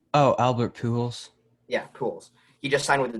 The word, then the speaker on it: Pujols: Yeah, Pujols.